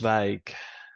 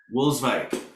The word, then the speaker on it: Wolswijk: And Floris is Wolswijk? Is that how it's pronounced? Wolswijk. Wolswijk.